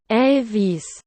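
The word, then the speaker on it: eLWIS: This project was named WLWIS, pronounced Elvis.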